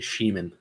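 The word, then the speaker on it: Schmiemann: They said they were pronouncing it Sheeman. Sheeman? Yeah. So Quinn Sheeman.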